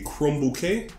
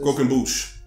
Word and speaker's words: croquembouche: At least in this memory, they decide to feed her a crumb bouquet. Is that how you pronounce it?